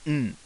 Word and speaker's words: ん: like it's said and this is pronounced n as in sing or ran in English H what it usually